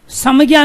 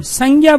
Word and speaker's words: संज्ञा: समज्ञा नहीं बोलते, हम संज्ञा बोलते हैं, गै का उच्चारण कर रहे हैं इसका।